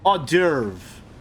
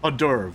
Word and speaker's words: hors d'oeuvre: The best part is this is merely an appetizer, a sweet hors d'oeuvre. That's not how you pronounce that word. Hors d'oeuvre.